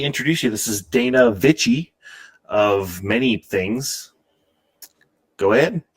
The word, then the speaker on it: Vicich: but you both started it with a V, which is the most important thing when pronouncing my last name. My last name, properly pronounced, is Vicich.